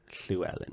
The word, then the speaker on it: Llewellyn: Llewellyn in my school. It's not pronounced that. Oh. It's called Llewellyn.